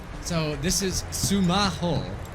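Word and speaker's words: スマホ: you could scan so sumaho L it's how you say it sumaho it sounds very similar so you'll find when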